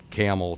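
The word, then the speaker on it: Campbell: It's spelled like the soup, but we don't say it. We and so the same drive from Okemos to Lansing Delta is the same drive from Camel to Lordstown.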